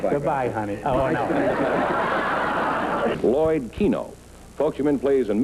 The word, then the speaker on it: Kino: How do you pronounce it? Oh, just like the game. What game? Winklepleck? Keno. Keno, huh? And you spell it K-I-N-O, huh? Right. Why don't you call it Kino? Because Keno is K-E-N-O, isn't it?